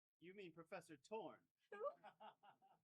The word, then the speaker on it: Thorne: I'm talking about Professor Thorne. You mean Professor Torn? Who? That's how you pronounce his name. The H and the E are silent.